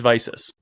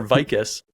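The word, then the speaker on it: Vicis: It's not Vicus, it's not VCs, it's Vices. Oh man, yeah. Right? It's Vices, it's Riddell, it's Shut. And it's Zenith. That's how they're pronounced.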